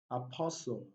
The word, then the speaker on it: apostle: So we have castle, we have Christmas, Christmas, wrestle, wrestle, catch, catch, asin, asin, apostle, pestle, rapport.